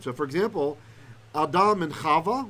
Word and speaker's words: Chava: So for example, Adam and Chava, we usually say Chava, but her name has a Vav, which was a W sound.